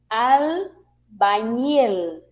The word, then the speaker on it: albañil: Todas as palavras que possuem o som equivalente a NH, em espanhol vamos utilizar la NE, tá? Então, albañil, porque vem um L ao final. Nós precisamos pronunciar bem direitinho essas duas letras e também la NE, que corresponde a NH.